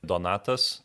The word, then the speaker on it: Donatas: How to I pronounce your name properly? Donatas.